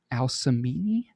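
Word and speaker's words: Alcmene: immortal woman i believe her name was al samini i'm not sure if that's exactly the way to say it but also pronunciation a-l-c-m-e-n-e and this was one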